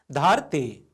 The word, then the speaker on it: धरती: धरती भाइ बहिनीहरू, यो रेफ लागेको छ। हेर्नुहोस् त, यहाँ यो रेफले र उच्चारण गराइरहेको छ।